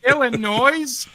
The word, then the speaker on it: Illinois: Illinois. The S is silent.